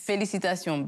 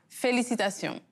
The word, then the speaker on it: Félicitations: Félicitations, but it's not. Félicitations.